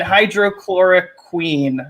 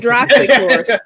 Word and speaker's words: hydroxychloroquine: Trump's new favorite Wu-Tang doctor believes in alien DNA, demon sperm, and hydrochloroquine or chloroquine, whatever the fuck. You said it right. You said it right. Chloroquine. Hydrochloroquine. Nah. Mm-hmm. Justin. Hydroxychloroquine.